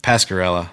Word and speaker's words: Pasquarella: yeah kind of yeah yeah how do you pronounce your last name Pascarella Pascarella yeah there's a lot of different form